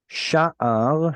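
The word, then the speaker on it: שַׁעַר: Sha'ar has penultimate stress.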